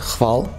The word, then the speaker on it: Hval: It's just Hval. Hval. Okay. Don't worry about the H.